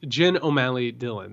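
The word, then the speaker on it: Jen O'Malley Dillon: the way just just for the record it's jen o'malley dylan that's correct i've mispronounced her name uh but i will i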